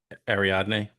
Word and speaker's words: Ariadne: Ariadne. Ariadne and Don Cobb.